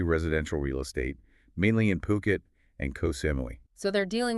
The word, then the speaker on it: Phuket: And just so everyone's clear, it's Puket, not Phuket. Super common mistake.